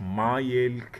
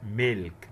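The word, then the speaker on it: milk: بن لبن، ميلك مش مايلك، لا ميلك ميلك.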